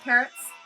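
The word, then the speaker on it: Pertz: His name is Parrots. It's P-E-R-T-Z. And as kids, my sisters and I used to try and explain to people, the pronunciation is like, think of the bird, parrots.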